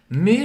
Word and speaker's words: mais: Je suis brésilienne, mais je parle français couramment. Então aqui, me, presta atenção que a gente não pronuncia o S ao final, significa mas.